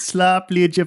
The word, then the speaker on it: slaapliedje: I saw the word slap and I was like, Yeah, and it is pronounced like that, slaapliedje, which apparently means slaapliedje van Miriam.